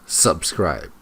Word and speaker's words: subscribe: on the first syllable subscribe but it's not subscribe it's subscribe subscribe she puts the stress on the wrong syllable the Scriptures the stress the stress is on the second syllable subscribe but it turned